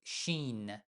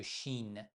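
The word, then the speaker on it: ش: La lettre suivante, Shin, on prononce tout simplement Che, c'est H.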